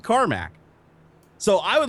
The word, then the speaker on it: Carmack: So I've been saying Cormac because you spelled it Cormac.